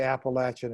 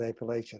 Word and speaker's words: Appalachian: for saying that although i still say appalachian and not appellation i'm sorry okay editorial comment